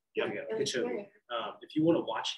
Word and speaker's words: Kipchoge: Yeah, Kipchoge.